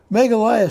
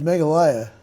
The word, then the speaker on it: Meghalaya: now this state which i will pronounce as meghalaya it hosts hundreds of